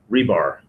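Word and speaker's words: RBAR: Now let's take another example here of, and I should introduce the term here, rebar, as it's pronounced. Row by agonizing row.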